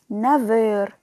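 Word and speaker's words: neuf heures: تسعة نافير، إلي نافير. الأف اتقلبت لفي في النطق، إلي نافير.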